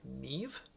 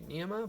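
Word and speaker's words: Niamh: is pronounced pronounced like Nev for some reason I feel like it should be NEMA but smarter people told me that it is Nev so she works a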